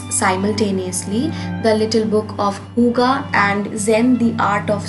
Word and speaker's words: hygge: Now as you can see that I am pronouncing the name as Huga, although it's written Haigi, but that's exactly how